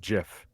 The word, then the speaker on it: GIF: star-like a bet yeah the gif decides that it should be pronounced jiff oh yeah he's an